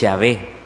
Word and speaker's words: Yahvé: Recordemos que el nombre de Dios es Yahvé. En hebreo se pronuncia Yahweh.